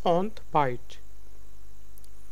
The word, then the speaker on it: ontbijt: It's ont b r y. So ing, e and y are sound like y in English. So it's ontbijt.